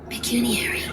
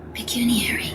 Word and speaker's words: pecuniary: Pecuniary. Oh, pecuniarity. Oh, let me say it again. Pecuniary.